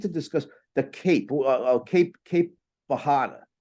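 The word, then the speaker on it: Bajada: The J is yeah. pronounced as an H in Portuguese Yeah.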